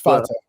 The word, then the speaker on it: Fateh: You've engaged a video that said the reason why Omar Fateh, I'm saying this, I think I'm always saying his last name wrong. It's Fateh. Fateh. Yeah.